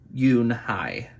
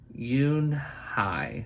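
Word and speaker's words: Unhei: turned to joey she nodded slowly yes it's pronounced yoon hai and it means grace mr kim added yoon hi joey said slowly and this time perfectly it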